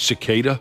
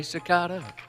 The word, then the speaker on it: cicada: with the fungus yep I was saying it wrong it's cicada cicada cicada yeah well excuse me I didn't want to say anything because I thought maybe I've been saying it wrong forever oh you wen't sure of yourself yeah you say cicada I say sakata I don't think either